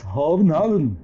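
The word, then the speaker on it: København: Yes, they pronounce Hovenhaven. Hovenhaven. I didn't know that. Yes, we say Copenhagen, okay, but Hovenhaven.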